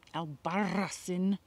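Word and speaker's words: Albarracín: Albarracin. Yeah. Thin.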